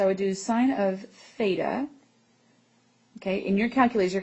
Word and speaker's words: theta: So anytime you know the angle measure, we say that it is represented by this symbol which is a Greek letter which is pronounced theta.